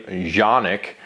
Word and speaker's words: Canik: Now, so Canik's in a weird situation because they have the way they pronounce the brand name Janik on the other side of the world, and then we just say Canik because we don't use soft C's very much in English, so it's just Canik and whatever.